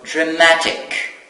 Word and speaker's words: dramatic: So, dramatic. Of course, the stress is on the second syllable from the end.